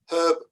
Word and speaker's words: herb: as a word where some speakers omit a letter from the pronunciation. So would write it out in full as H-U-R-B, knowing that the H might be omitted when spoken.